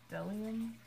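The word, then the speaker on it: Bdellium: I don't think you actually pronounce the B. Like, it's spelled Bedelium, but it's Delium.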